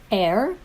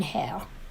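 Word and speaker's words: heir: air is wrong because air the person who inherits air h-e-i-r starts with a silent h an h that's pronounced as a as a vowel so we're going to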